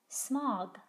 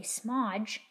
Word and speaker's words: smog: is the word smog smog it does not say smodge there's nothing after the